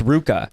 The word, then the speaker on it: RVCA: I thought for the longest time it was RVCA, but it was actually pronounced... It's not Ruka? No, it's Ruka.